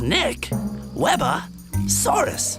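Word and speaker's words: Nqwebasaurus: I'm Nick Webosaurus. That's Nick Webosaurus, the first dino ever to have a tongue click in his name.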